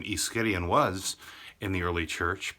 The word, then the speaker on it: Ischyrion: It's not easy to pronounce. Ischyrion.